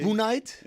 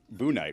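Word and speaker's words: Bouknight: It's a very difficult name to figure out how to pronounce because it's B-O-U-K, right? Yeah, and you're like, is it N-I-G-H-T? Boonite? Yeah. Is it Boonite? Is the K silent?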